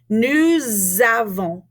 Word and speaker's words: nous avons: Now, in this situation, because we have a vowel sound at the beginning of avons, we're going to take that S and we're going to turn it into a Z. Listen. Nous avons.